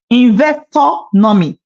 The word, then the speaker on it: Investonomy: It's investor-nomy. Investonomy. Okay, some people like investor-nomy and then they miss it along the way. So, it's investor and nomy.